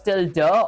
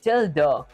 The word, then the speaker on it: tilde: It's pronounced as tilde, or sometimes people call it tilde.